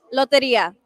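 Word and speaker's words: Lotería: Mexican bingo is pronounced again? Loteria.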